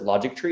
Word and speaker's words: Logitree: print we pronounce it logic tree is because it's like chemistry history logic tree it's where we're kind